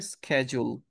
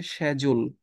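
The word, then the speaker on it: schedule: এটা আমরা অনেকেশিডিউল বলি এটার উচ্চারণটা হবে স্কেজুল এটার দুইটা সাউন্ড আছে একটা হচ্ছে স্কেজুল আরেকটা হচ্ছে সেজুল একটা ব্রিটিশ আরেকটা আমেরিকান যাই হোক আমরা সাউন্ডে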